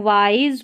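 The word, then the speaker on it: wise: चलिए अब यहां से पढ़ना है कि अ इसको वाइज पढ़ना है। वाइस नहीं पढ़ना है या विश नहीं पढ़ना।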